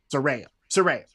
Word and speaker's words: Saraya: Saraya.